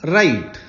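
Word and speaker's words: write: N spoken next verb राइट लिखना three forms राइट road return यहां पे W silent होता है राइट रोट रिटर्न डब्लू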